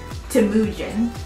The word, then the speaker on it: Temujin: His name was, pronounce it right, Temujin.